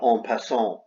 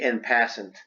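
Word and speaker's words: en passant: guys all know about on pason and it's french that's the correct pronunciation in english it would be in passant well we have an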